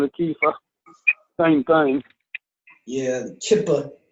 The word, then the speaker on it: kippah: Yeah, one of them they call it yarmulke, and the other one they call it a kippah. Same thing. Yeah, Kippa. I think it's pronounced in English Kippa.